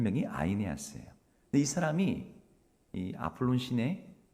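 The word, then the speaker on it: Αἰνέας: 만나게 되었습니다 애니아 어 우리말로는 애니라고게 써 있지만이 헬라는 그 아이네아스이 발음을 합니다 아이아 아스 여러분 아이네아스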